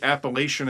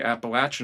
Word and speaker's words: Appalachian: I was like, I hope they don't say Appalachian in Western. I hope they say Appalachin in Western.